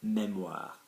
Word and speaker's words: mémoire: The memory that you have the capacity is la mémoire. Mémoire, there's an accent on the E, la mémoire, okay?